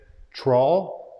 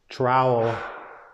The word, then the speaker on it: trowel: english so is it is it troll like rhymes with paul or is it trowel rhymes with owl um what do you